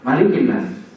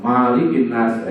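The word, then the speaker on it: ملك الناس: kita baca Maliki yaumiddin tapi kalau surat Annas enggak boleh panjang tulisannya sama Tapi bacanya beda maka dalam surah Annas harus dibaca pendek Maliki yaumiddin ya Eh maaf malikinnas ilahinnas k ada imam yang keliru Di basa malikinasah itu keliru ya b jadi ini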